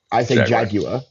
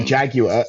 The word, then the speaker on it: jaguar: Also, side note, really interesting that all three of us pronounce the J word differently. Because I say jaguar. And a jaguar, and then Graham says jaguar, and then Trevor says jaguar.